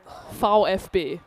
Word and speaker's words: VfB: When it's an individual letter, German gets fun. Yeah. A V is a foul. Foul FB which you might have heard before because Fish Dukgat is the football team.